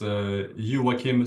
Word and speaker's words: Joakim: So, as Andrea said, uh, my name is Yua Kim. That's actually how it's pronounced in Swedish.